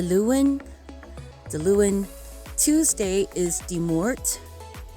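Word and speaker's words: Dé Máirt: is monday the lewin the lewin tuesday is the mort de mort wednesday is decading decating thursday is darden dardin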